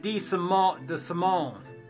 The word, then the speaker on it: DeSimone: DeSimone. That's how you say it.